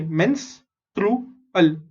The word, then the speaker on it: menstrual: MENS, mens, TRU, true, ALL. Okay, mens, true, al, menstrual cycle.